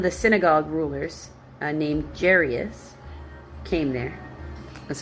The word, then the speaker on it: Jairus: Then one of the synagogue rulers uh named Jairus came there. That's how I pronounce it.